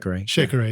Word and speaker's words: shekere: But rock stars, once again, go look at the YouTube video where John is playing Shekere. Did I pronounce that right? Shekere, yeah.